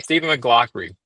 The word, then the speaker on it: Stephen McLaughry: I have a great guest on today, Stephen McLaughry.